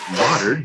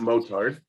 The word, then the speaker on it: Martin: martin everybody yeah yes my name is pronounced modern not motored sorry that's okay motor